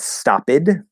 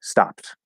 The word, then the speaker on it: stopped: say stopped same thing p is voiceless so that d will be a t and the e is silent um it's not stop it or walked or walk